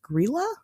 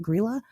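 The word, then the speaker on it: Grýla: Okay, so first, they have this lady, which I think it's pronounced Grilla, is how they say it, Grilla.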